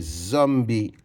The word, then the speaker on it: zombie: Le premier mot qu'on va écrire ensemble, c'est zombie. Alors, Z, j'ai besoin de la lettre Z. H hom zom b zombie il y a un e à la fin qui est muet zombie.